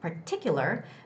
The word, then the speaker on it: particular: three years in particular ti it's i where the stress goes particular many restaurants has the